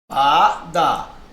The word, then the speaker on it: lâmpada: Se eu separo a palavra lâmpada, ó, lâmpada. Não é a última, não é oxítona. Não é a penúltima, não é paroxítona. Ela é, ó, a antepenúltima. É a sílaba mais forte.